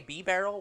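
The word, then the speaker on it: Bibarel: I like how you can say Bidoof correctly, but you just try to say B-Barrel, which is pronounced the exact same way as Bidoof, but you can't say it correctly.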